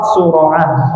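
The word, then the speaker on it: الصُّرَعة: Wa fathir ra, sura'ah. Oh bukan surah, maaf salah. Laisa syadidu bis sura'ati. Maaf salah tadi bacanya. Laisa syadidu bis sura'ati. Bis-sura'ah, sura'ah, bukan sur'ah, sura'ah.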